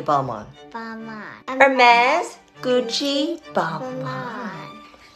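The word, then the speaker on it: Hermès: homies no no no it's not hermes it's hermes say hermes oh may this leave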